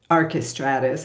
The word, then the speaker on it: Archestratus: to that AR aristatus archestratus I guess would be the English pronunciation who lived in Italy